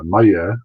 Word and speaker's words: Maillet: It's Maya, but it's pretty close. I'll give you an A. Maillet.